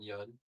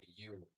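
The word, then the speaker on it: Yeun: That's like you know Stephen Yun? Yes. From Walking Dead. Yeah. People would pronounce his name you all the time.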